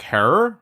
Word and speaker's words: Herer: the advocacy of Jack Herer, rhymes with terror.